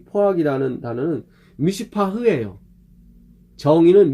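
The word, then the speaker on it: מִשְׂפָּח: 이 포악이라는 단어는 미슈파흐예요. 정의는 미슈파트고 거의 비슷해요. 미슈파흐, 미슈파트. 그러니까 티귿과 히읗 차이 그냥 거의 비슷해요. 어떻게 발음하면 똑같아. 잘못 발음하면 어떻게 들으면 똑같은데 미슈파트, 미슈파흐 똑같아. 근데 본질적으로 틀려요.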